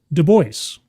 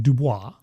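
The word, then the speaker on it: Du Bois: this is from web deoy and I'm saying it correctly because in the past I did embarrass myself by saying DUIs but it's e web de who is a very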